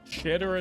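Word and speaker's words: Xitter: Shitter is a different kind of site. No, you spelled it wrong. It's X-I-T-T-E-R. You just pronounce it like shitter, but it's a X-itter.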